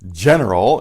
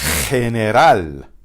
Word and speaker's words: general: But instead of general, it's general. General.